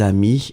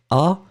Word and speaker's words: amis: You pronounce them the same way, but still, you want to write them properly.